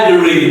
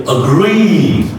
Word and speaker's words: agree: The next is agree, okay, not agree, no, is reduced, and the long E vowel, like the she vowel is stretched, so you say agree.